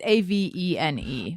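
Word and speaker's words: Avène: It's like, I don't know how to pronounce it, but I like it's Avene or Avene. It's Avene.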